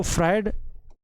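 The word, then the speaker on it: Freud: Sigmund फ्रायड ठीक है इनको फ्राइड Sigmund फ्राइड एफ आर ई यू डी यह इनकी स्पेलिंग है अजीब सी स्पेलिंग है लेकिन आपको ध्यान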